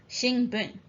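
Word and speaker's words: 新聞: So in this case, it is pronounced shin, shinbun.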